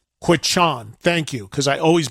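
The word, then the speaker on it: Quechan: Give me the proper pronunciation of the name of that casino. Quichan. Quichan.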